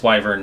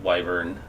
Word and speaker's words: wyvern: It is wyvern, not wyvern.